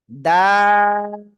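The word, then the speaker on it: دال: ওকে, হচ্ছে না, আপনারা পড়বেন এরকম দাল, তিন আলিফ টান হবে।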